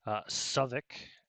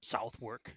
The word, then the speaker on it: Southwark: George's Fields Southwark as the locals call it or South work as it's spelled I drive the English viewers crazy with my pronunciation so okay Suffolk yeah it's spelt out put it in chat